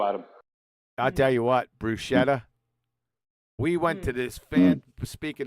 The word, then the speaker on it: bruschetta: Like the way you say tortilla, that kind of thing.